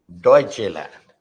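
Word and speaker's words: Deutschland: यू टी एस एस सी एच ई एल ए एन डी डचे लैंड pronunciation is डचे लैंड ये ड्यूडचे लैंड है मत कर देना इसको ठीक है डचे ये डी एंड ठीक है डचेलैंड वी आर नॉट the only country which has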